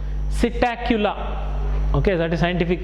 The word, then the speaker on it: Psittacula: Then parrot, gili, it is Psittacula, P silent, it is not Psittacula, that is wrong pronunciation. Psittacula.